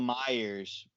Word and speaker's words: Meijer: of it grocery tag it was called Meijer but it was spelled like my Jers oh yeah yeah there's pronounce my ears that's the weird thing